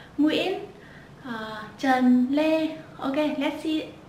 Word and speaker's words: Nguyễn: Let's see, the first common surname is Nguyễn, Nguyễn. Yeah, Nguyễn.